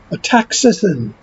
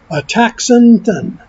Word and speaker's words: astaxanthin: But the vitamin or mineral or supplement, however you want to frame it, is called ataxanthin. I'm going to spell it for you. ASTAXANTHIN. Ataxanthin.